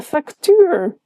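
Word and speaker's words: facto: The moment I added in the C, he goes, ah, factuur, got it. A funny one is factu. Here the C is pronounced, but I don't promise that's always the case.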